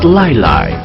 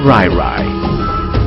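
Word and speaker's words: 來來: The word was actually pronounced Lai Lai, but the Japanese couldn't pronounce the letter L. The word eventually evolved to Rairai.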